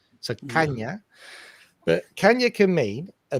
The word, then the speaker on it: caña: It's pronounced nya. So, caña.